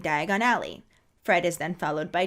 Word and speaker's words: Diagon Alley: movie just has him put the wrong emphasis on the wrong syllables so Diagon Alley just becomes diagonally which I am so